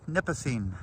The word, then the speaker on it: Nipissing: The pronunciation of this lake is called Lake Nipissing.